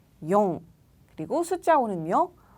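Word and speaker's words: よん: 그리고 숫자 4는 읽는 방법이 두 가지예요. 뒤에 붙는 조수사에 따라서 읽는 방법이 달라지는데요. 시라고 읽을 수도 있고요. 용이라고 읽을 수도 있습니다. 시 혹은 용.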